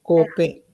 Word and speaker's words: cope: Ok, e l'altro sarà acuto, cope. Invece cope è acuto, quindi la O è stretta.